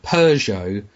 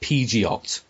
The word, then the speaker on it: Peugeot: to actually learn that the word Peugeot was not pronounced Pidgeot yeah I mean of